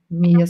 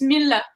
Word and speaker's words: Mille: Yeah, but I think your vocal line in this song, Mia Silence, is it the right pronounce? Say that again. Say that again. Mia Silence. Silence is all right. Mille is not Mia, it's Mille.